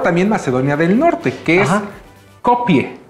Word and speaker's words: Skopje: macedonia del Norte que es copie es copie así se pronuncia en español se escribe copque o